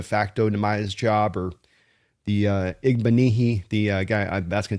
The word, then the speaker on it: Igbinoghene: Demaya's job or the Igbinoghene. The guy I That's going to take me a while to master that name, Brandon. But it's going to be, you know, It's like mahogany. It's Igbinoghene. I've I've kind of learned